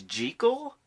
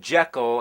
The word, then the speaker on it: Jekyll: evil mr hyde you know that the proper pronunciation is jekyll that's what the author of the novel insisted